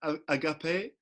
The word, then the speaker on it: Agape: that have i pronounced agape have i pronounced your name properly yeah it's agape i got this can